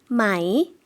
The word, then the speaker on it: ไหม: ไหม 네, 마이 사성으로 발음을 해주시면 되고요.